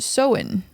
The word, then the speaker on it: Samhain: to the ancient Celtic Festival of Samhain uh pronounced so in okay and the Celts who lived 2000 years